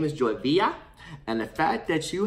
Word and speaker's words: Villa: coming from California, and everyone who knows a little bit of Spanish knows 2 L's is pronounced with a Y. So your name is Joy Villa.